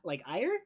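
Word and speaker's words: Aegir: Because I think the English pronunciation is Ferdinand von Eyre, like the G is silent. And then the Japanese voice actor actually pronounces a G sound.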